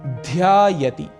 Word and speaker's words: ध्यायति: भक्तः ध्यायति, यहां पर उच्चारण का हमें विशेष ध्यान रखना है। ध अक्षर महाप्राण है, इसीलिए यहां पर ध्वनि एम्फेसिस थोड़ा अधिक होगा और कहेंगे ध्यायति, भक्त ध्यान करता है।